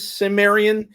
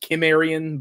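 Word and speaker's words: Cimmerian: The thing the thing is everyone says Samrian. If you want to be technical, it comes from an old Gaelic term that should be pronounced Kimrian, but everyone says Samrian.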